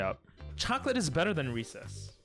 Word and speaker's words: Reese's: them pretty high up chocolate is better than recess reese's how do you say it reese's reese's recess